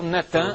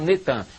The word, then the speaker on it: Natan: No dia 4 de novembro de 2002, lança o nome do ex-primeiro-ministro de Al-Shorur de Israel, Natan, é Natan, eles já fizeram o sincretismo, botaram Netan, mas é Natan Yarro.